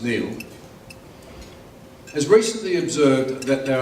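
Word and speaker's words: Niall: the great economic historian Neil Ferguson spelled Albert pronounced Neil has recently observed that there are three great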